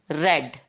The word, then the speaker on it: read: Please note that spelling remains the same, read in past tense also, but we pronounce it as read, read and read.